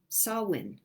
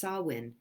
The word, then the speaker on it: Samhain: is the day after sawwin which looks like samhain if you were to see the spelling of it but it's an old celtic word and it's pronounced sawwin and it is the